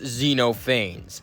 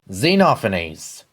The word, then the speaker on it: Xenophanes: And apparently his name isn't pronounced Xenophanes.